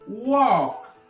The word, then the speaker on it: walk: Walk. On ne prononce pas le R.